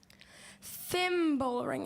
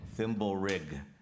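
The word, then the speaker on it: thimblerig: Thimble ring. Am I saying it correctly? Say it again. Thimble ring. Thimble rig.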